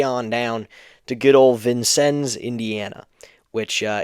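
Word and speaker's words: Vincennes: drove us way on down to good old vincens Indiana which uh it's spelled like vincin but it's pronounced vincens so there you go there you go uh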